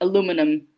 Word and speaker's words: aluminum: But, for instance, even elements like aluminum and aluminium are different.